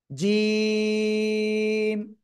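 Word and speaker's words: جيم: এই অক্ষরের নাম কি জিম জিম শক্ত করে উচ্চারণ হবে সবাই জোরে বলেন জোরে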